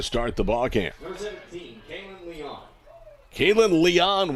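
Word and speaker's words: Lian: the ball camp kaitlyn leon will bat l-i-a-n the way she spells her last dime but it's pronounced like ellie o-n caitlyn leon is hitting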